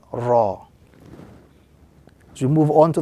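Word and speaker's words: راء: And as we focus a little bit on the pronunciation, this particular letter, the letter Ra, is pronounced when the tip of the tongue slightly touches the upper gums, the letter Ra.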